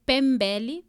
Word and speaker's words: Mpembele: então meu nome seria pronunciado de forma correta seria pembel o que é